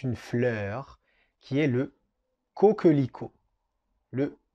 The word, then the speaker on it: coquelicot: On continue avec un mot qui est très beau, c'est une fleur, qui est le coquelicot. Le coquelicot.